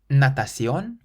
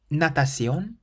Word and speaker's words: natación: Natación, natación, or natación, natación. So this word means swimming, and the C is pronounced either like a S or a Th because it's followed by an I.